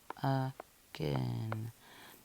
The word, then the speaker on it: again: You'll see that A-I spelling pattern, but we don't say the long A sound here. So that's why it's a red word. Because you kind of just hear this sound, right? My first syllable, and then g, So yeah, this is together making a sound, but usually makes my long A sound like rain.